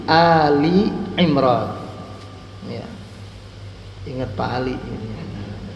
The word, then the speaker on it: Ali Imran: Tapi kalau Ali Imran bukan Al-Imran ya, tapi Ali Imran.